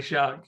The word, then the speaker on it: Szwarc: Szwarc is spelled SZWARC. Shark, maybe then? So the sequel, Shark. Are you saying this guy's name is Jeannot Is Shark? actually Shark, yeah. His surname is Shark.